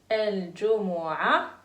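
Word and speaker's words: الجمعة: Al-Jumu'a. On ne prononce pas ta à la fin.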